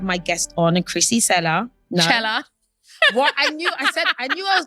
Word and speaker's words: Cela: Cela. What I knew I was going to say that. And it even says, pronounce Cela, like Coachella.